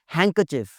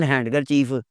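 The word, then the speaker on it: handkerchief: हैंकरचिफ, हैंकरचिफ, इट्स नॉट हैंडकरचीफ।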